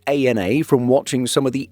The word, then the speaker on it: ANA: Getting back to the Japanese carriers, we know that it's ANA from watching some of the airline's YouTube videos. ANA, Inspiration of Japan.